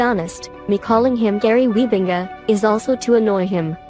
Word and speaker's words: Wybenga: will call him because it is the correct pronunciation is quite the opposite and yeah to be honest me calling him gary weebinga is also to annoy him right like i